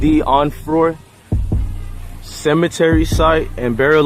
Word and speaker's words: Onfroy: Onfroy. We're here at Jahseh Onfroy cemetery site and burial.